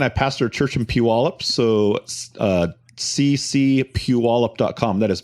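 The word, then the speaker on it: Puyallup: I pastor a church in Puallup.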